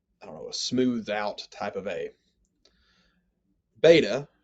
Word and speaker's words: beta: out type of a beta is pronounced virtually identically to the b in english so beta it sounds like the b in bible gamma sounds like the g